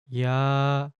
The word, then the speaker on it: 야: The answer is 야. 야, The second short stroke will add a Y sound.